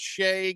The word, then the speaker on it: Shai: just a nerd but like his name is Shay and yeah Shay not Shai so it's Shay Gilgamesh Alexander Gil Giles Shai gilan Alexander no